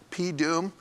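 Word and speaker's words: P(doom): That's how you pronounce that, P-Doom.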